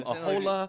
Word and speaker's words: Aholah: Aholah. It's like you said a hold up.